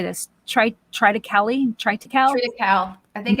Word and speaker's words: triticale: Triticale.